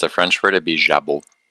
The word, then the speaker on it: jabot: Habot. Uh, for that particular word, if it's a French word, it' be jabu. Jabu. Okay. The, uh, T is not pronounced.